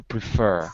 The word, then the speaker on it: prefer: syllabus that's right but in the word preference it's a noun so we move it to the first syllable preference but in a verb to prefer second syllable okay and what do